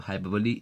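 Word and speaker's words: hyperbole: तो हाइपबली, यहाँ are silent है।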